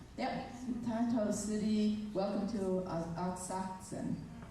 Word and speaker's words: Asakusa: Asakusan. Okay, I think I got that in the next one. Yep, Taito City. Welcome to Asakusan. Asakusa, that's American pronunciation. Akaska. How do you say it? Asakusa.